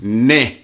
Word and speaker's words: neh: It's pronounced neh, N-E-H. Come on, neh. Come on, neh. Neh. And it's just another way to say now, but it has as many as many uses as the word fuck.